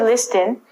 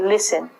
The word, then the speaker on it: listen: first word is listen we don't say list in say listen listen is like hearing you